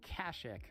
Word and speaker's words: Kashyyyk: get more experience, and we flew to Kashyyyk, which is how I'm pronouncing it despite every character in this game saying Kashyyyk.